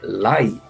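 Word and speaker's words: 来: vir em japonês né no chinês a pronúncia ou é Lai e significa vindouro próximo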